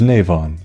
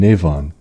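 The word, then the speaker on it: Nemain: His persona is Navon, of the Justice Arcana, a being in Irish myth, so that explains why the pronunciation is a bit weird.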